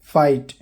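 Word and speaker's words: fight: फाइट, यहाँ पर आखिर में जी एच टी है तो जी एच साइलेंट रहेगा, लड़ाई को बोलते हैं।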